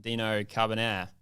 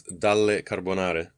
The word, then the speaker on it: Dale Carbonare: what was it again just imagine the the pasta sauce but it ends with an e instead of an a start to have you